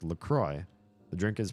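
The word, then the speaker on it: LaCroix: ever had this salzer it looks like it's got a French name it even has a silent letter in it and the drink is pronounced lroy the drink is pronounced lroy because the river is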